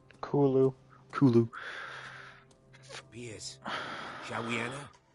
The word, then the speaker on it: Cthulhu: Did you say it's actually pronounced Sulu? Kulu.